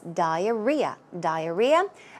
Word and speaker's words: diarrhea: The stress goes right there, so it's diarrhea.